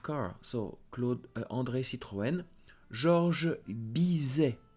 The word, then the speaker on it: Georges Bizet: Georges Bizet. So don't forget, do not pronounce S and T. Don't say Georges Bizet. No, Georges Bizet, famous for classical music.